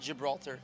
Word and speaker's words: Gibraltar: everybody because like Gilbert or something it's it's pronounced Gibraltar okay yeah where did that name come from